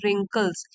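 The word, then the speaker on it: wrinkles: है उनको बोलते हैं रिंकल्स डब्लू साइलेंट होता है रिंकल्स मींस झुरियां लेकिन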